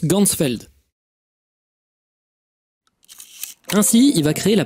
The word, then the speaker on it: Ganzfeld: de la vision et en allemand champ entier ça se prononce gansfeld ainsi il va créer